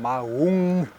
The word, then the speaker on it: Maun: It seems that the pronunciation or the the name stems from Mahung, M A U N G. So I I think Mahun with an N at the end is probably the most appropriate pronunciation, but who knows with these things.